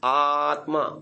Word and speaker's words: आत्मा: पूरा हो गया ठीक आ में भी आपने दीर्घ बोला मा में भी दीर्घ बोला है ना त और म के पीछे झटका देकर रुकने की आवता आवश्यकता नहीं चलिए आगे अब कितना